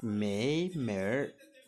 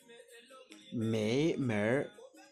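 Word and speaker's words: 没门儿: La particularité avec ce mot c'est que il est composé de mei, comme je vous ai dit, qui veut dire ne pas, et de men, qu'on peut aussi prononcer mer, qui veut dire porte, entrée, issue de sortie.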